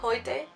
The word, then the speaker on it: heute: Se pronuncia heute y significa hoy.